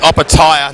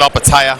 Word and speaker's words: Opetaia: It's Opetaia, not Opetaia.